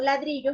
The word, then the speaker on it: ladrillo: En este caso, ladrillo es una palabra grave porque su última, penúltima y antepenúltima. Las graves llevan el acento en la penúltima sílaba.